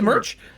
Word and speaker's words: Merc: Or Were you trying to say merch? Exclamation point Merc. Merc. This is Merc rhymes with lurk.